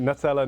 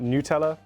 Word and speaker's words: Nutella: Yes, I'm pronouncing it Nutella, not Nutella.